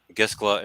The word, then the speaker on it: Gischala: Giscala is spelled Gischala.